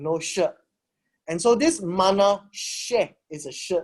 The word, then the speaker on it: Manasseh: The reason why it is pronounced Manasseh is because there's no sh sound in Greek.